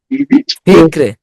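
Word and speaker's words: فكر: জের আছে, পাতলা হবে। ফিকরে, রটা 3 ভাগের 1 ভাগ উচ্চারণ হবে, ফিকরে।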